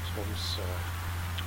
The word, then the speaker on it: Tromsø: O over it is pronounced O, so the pronunciation for the destination is Ålesund. Okay. And the final destination is Tromsø, where they find this last O has a